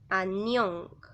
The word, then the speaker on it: annyeong: Ustedes pueden ver que en la palabra annyeong, aquí en la zona de acá abajo, que es el pachim, hay una consonante que, recuerden, su sonido es N. Y en la zona de la sílaba siguiente hay otra consonante que tiene el mismo sonido.